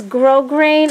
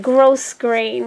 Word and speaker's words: grosgrain: is people pronounce this grosgrain I pronounce it grosgrain because the S to me is not silent and look how much